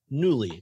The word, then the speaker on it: Nuuly: rental subscription box called newly and that's spelled n u u ly because internet lily is